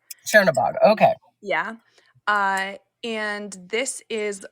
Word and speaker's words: Chernobog: So can you tell us more about, I'm probably not pronouncing this, Zernabog? Yeah, so it's Chernobog. Chernobog, okay.